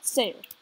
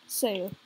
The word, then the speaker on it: Sayer: Yeah, Sayer. That's his name. Sayer. Like, say with an R. That's how you pronounce it.